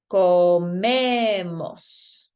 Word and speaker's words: comemos: So that's going to push our pronunciation back. Okay, so if you look at this, we've got an O here. That's our last vowel. This right here is an E. So it'll be comemos.